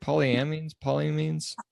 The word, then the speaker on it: polyamines: Polyamines?